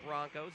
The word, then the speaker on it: Bronchos: Broncos spelled Bronchos, but pronounced like Broncos, as in the Denver Broncos or any other team you can think of that does not have that extra letter.